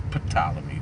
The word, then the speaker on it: Ptolemy: It's really pronounced Ptolemy, but it's Ptolemy, the way that it's spelled.